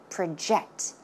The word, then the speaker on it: project: now in this case we are not talking about project as in a noun but it's used as a verb so how should it be pronounced project project okay project your